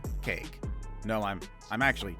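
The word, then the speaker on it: KAEC: little better and yes i know it's spelled as k-a-e-c but i'm still gonna call it cake cake is one of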